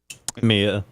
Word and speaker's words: Mia: And Mila Khalifa is supposedly is how you say her name? Mia. It's Mia. I said Mia. Yeah, Mia Khalifa. I said Mia Khalifa. He did. Yes. Jesus, are you guys just Florida ready State to did. pounce? You said Mila Khalifa, so I was just trying to make sure people know that it's Mia Khalifa. I said Mia Khalifa. What else way to pronounce her name? There's just no L.